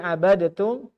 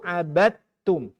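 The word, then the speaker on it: عبدتم: Jadi abadatum itu abadtum. Abadtum. Cara baca idghamnya gunnah atau bigunnah? Abadatum. Bila gunnah. Kemudian cara bacanya selain gunnah bila gunnah, kamil atau naqis? Kamil. Dibaca kamil. Jadi langsung masukkan huruf ta kamil teh.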